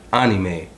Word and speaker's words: anime: for the record well most people pronounce um pronounce it as anime it's actually anime but either way people will know what you're